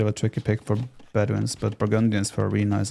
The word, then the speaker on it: Bedouins: I think for Bedunes, or Bedouins if you want to pronounce it correctly.